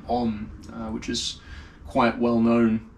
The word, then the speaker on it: Om: clear example, is that, Om, A-U-M has these 3 syllables.